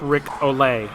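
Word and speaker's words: Ric Olié: and Delta 7b Trevor I'm sorry it's pronounced Rick Olay Olay I insist I was just saying it's like Rick allele yes it does he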